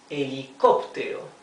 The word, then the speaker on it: helicóptero: And the accent of the word helicóptero is in the third syllable starting from the last one.